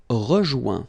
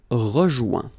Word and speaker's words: rejoint: Rejoindre, rejoint. Okay? Same thing. Final T not pronounced. Joint. So when you get this O-I-N combination of letters, you get the sound ouin. Okay, joint, and then rejoint.